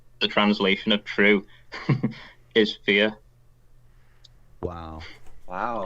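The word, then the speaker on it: fíor: So if you're describing something as true, the translation of true is fear. Wow. FIOR, but it's pronounced identically to FEAR in English.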